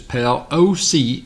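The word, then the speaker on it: Pelosi: straighten me out there she says pal Oh see is that is how you pronounce pelo see but I put a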